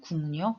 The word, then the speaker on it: 국력: 미니용 으로 바뀌는 현상 그래서 최종 발음은 뭐가 되냐면 군요 이렇게 발음이 되는 거죠 그쵸 국력 이렇게 발음이 되는 겁니다 자 협력도 한번 가볼까요